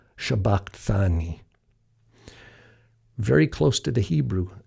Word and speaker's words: shabaqthani: in matthew is now if we allow the sigma to be pronounced as a shin as aramaic speakers would know they would say eli eli lama shabbat thani very close to the